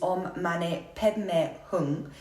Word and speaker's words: Om Mani Peme Hung: You may also hear the less traditional pronunciation of it, which is Om Mani Padme Hum, which is how it's said in the Tibetan tradition.